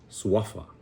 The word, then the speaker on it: suafa: So that's why we emphasize that second to the last syllable, suafa, right?